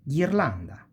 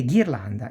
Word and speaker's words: ghirlanda: E ghirlanda is a garland. See? Ge and gi. Ge e gi. You pronounce like guest or geese.